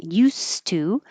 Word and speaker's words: used to: And we talked about the difference between used to, it's spelled with an S and it sounds like an S when you're referring to the action that you did a lot in the past.